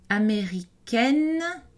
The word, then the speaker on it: américaine: Américaine, on a une voyelle orale suivie d'un N prononcé pour indiquer le féminin grammatical.